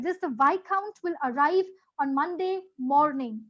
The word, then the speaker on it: viscount: is the spelling of why count what is the spelling of Y count now the spelling and the sounds are different the spelling and how we pronunciate it is different I'll tell you what